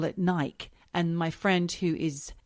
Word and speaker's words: Nike: it all went wrong he also had Nike that's how you pronounce it I got a friend